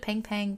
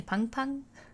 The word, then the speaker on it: Pung Pung: Oh, of course we can't forget about Pung Pung, which I pronounced it Pang Pang, but when I looked up all these pronunciations, it's apparently Pung Pung.